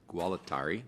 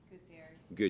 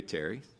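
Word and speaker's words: Gualtieri: of Penllis County, and I asked Sheriff Gualitari, who I probably pronounced his name wrong. Gutterary. Gutterary. There we go.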